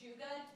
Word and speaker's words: Jajuga: It's okay, it's Jajuga. Yeah, I wouldn't have gotten that. So. Oh, no, it's okay, it's Polish and it's butchered, it's fine.